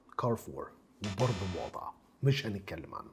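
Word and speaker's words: Carrefour: امينو اسد امينو اسد ناس كتير بتحتار في نطق البراند اللي قدامك ده انما هو زي ما انت شايف كده هو كارف فور كارف فور وبرده مواضع مش هنتكلم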